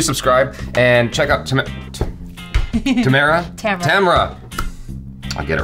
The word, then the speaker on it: Tamara: Tamara. I'll get it right someday. Yeah. Tamara. Rhymes with camera.